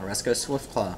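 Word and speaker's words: Oreskos Swiftclaw: Swiftclaw, Oresco Swiftclaw. Thank you. I was trying to think how to pronounce that.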